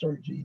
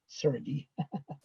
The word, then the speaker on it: Sirgy: It's pronounced Sirgy, not Sirgy.